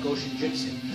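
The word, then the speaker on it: Goshinjutsu: When you pronounce it, you don't have to separate the go, go shinjutsu.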